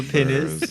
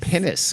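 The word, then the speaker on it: pinnace: The penis. Jesus Christ. The penis. I see a pennis.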